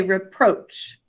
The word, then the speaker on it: reproach: because um it's unstressed we say reproach and kind of emphasize the second syllable so good job what